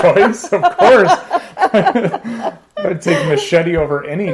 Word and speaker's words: Mascetti: It could be Mascetti like the knife. That's the official name, but people Americanize it Italian? as Mascetti. Yeah. Oh, really? I prefer Mascetti.